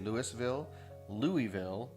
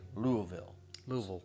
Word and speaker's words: Louisville: You could say Louisville. Apparently, the proper way, if you live in this area of the country, is to say Louisville.